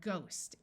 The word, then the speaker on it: ghost: time like in site there are some words where the H is silent like in the word ghost and there are a